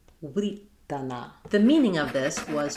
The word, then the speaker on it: writana: So we would have wuh-ri-ta-na, writana.